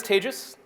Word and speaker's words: Tejas: things my name is tages that's pronounced like the word contagious if it's if it